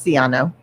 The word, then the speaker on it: Siano: And also, Dori, you pronounce I've heard it two ways here, Siano and Siano. No, it's Siano. It is Siano.